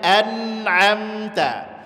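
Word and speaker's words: أنعمت: kalimat anamta di sini hati-hati Hamzah di situ banyak sekali yang membacanya seperti Huruf Ain anamta gak boleh di situ huruf a ditambah n a bunyinya jangan An am sama saja antara Hamzah dengan Ain nah itu nanti gak boleh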